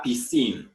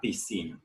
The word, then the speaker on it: piscine: We have la piscine, swimming pool, as you can see in the picture. La piscine.